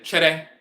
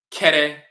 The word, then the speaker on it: Kyere: An example, the term Kyere, the Fanti would say chere, chere, but the Asante would pronounce it kere, more harshly with a K.